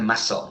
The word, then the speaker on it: muscle: Muscle, ¿no? Podemos aprovechar este juguete, ¿no? El nombre de este juguete para incidir en una diferencia de pronunciación entre, pues, muscle no se pronuncia la C, sin embargo, muscular sí se pronuncia la C.